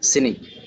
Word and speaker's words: স্নিগ্ধ: ন ফলা নয়ের উচ্চারণ হয়েছে স্নিগ্ধ, স্নিগ্ধ।